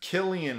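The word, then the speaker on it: Cillian: into it moving on um so Rachel McAdams Killian Murphy yes that is how you pronounce his name uh and Brian Cox uh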